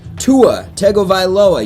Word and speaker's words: Tua Tagovailoa: Tua Tagovailoa, yes, I pronounced that right.